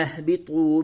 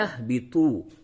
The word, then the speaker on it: اهبطوا: پیش تو، بی تو، طا کو تھوڑا پڑ کر کے موٹی آواز سے پڑھیں گے۔ قلنا اهبطوا، میم نون زیر من،